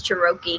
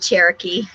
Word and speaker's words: Cherokee: washed up oh gosh we met a kid one time that told us he was uh cherokee cherokee he was chirokey we were trying to figure out what in the world that was yeah charoki instead of cherokee he was chirokey i think he probably was chirokin obviously he'd never heard that said he just read it and he may have